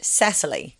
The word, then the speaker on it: Cecilie: As I understand, the pronunciation Cecilie, I was trying to say it correctly. No, in Danish apparently it's Cecilia. Oh. But in English she pronounces it Cecily.